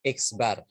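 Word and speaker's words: x̄: di atasnya ada garis lurus ada garis lurus bacanya X bar cara bacanya ikhlas kalau simbolnya simbol rata-rata seperti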